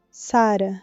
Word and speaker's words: Sara: Sara, com a primeira sílaba acentuada, do jeito que o Khalil chamava ela do quintal.